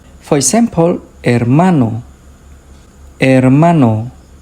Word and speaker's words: hermano: For example, hermano. Hermano. Hospital. Hospital. Hora. Hora. The H doesn't make a sound.